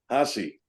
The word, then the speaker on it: Haase: you tell the audience ha a e is pronounced hassi all right you got that everybody when you meet Bill it's hosy all right so now